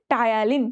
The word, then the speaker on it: Ptyalin: ভরপুর থাকে হচ্ছে টায়ালিন, টায়ালিনটা, টায়ালিন বানান জানো? টায়ালিন বাংলায় তো দেখেছো, ইংলিশ বানানটা একটু দেখবা, PTYALIN।